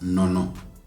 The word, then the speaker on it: neno: And for the latter part of this, the neno part, we almost always pronounce that as nono.